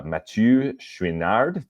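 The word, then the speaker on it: Mathieu Chouinard: Uh, Matu Schwinard. Did I pronounce that right, Ross?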